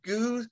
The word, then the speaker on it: Goos: Goos is fine. Okay. That's kind of my Twitter name, so it's easier to remember. And then the last name is pronounced like the bird.